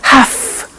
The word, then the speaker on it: have to: pronunciation i have to notice i don't say v i say f have half it becomes have to have the two becomes